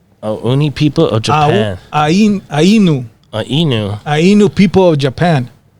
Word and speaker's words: Ainu: Ainu. Ainu. Ainu people of Japan. Spell that A I N U.